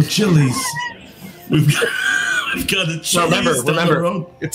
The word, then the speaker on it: Chili's: I've got a No, Chili's down the road. it's pronounced Chillis.